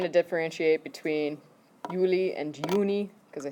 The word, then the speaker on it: Juni: Juni. Uni. Okay, we just talked about how J's are pronounced.